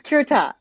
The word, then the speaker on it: Curtat: it's is it kertat it's kirta so like many things in french you don't pronounce the last letter you know i think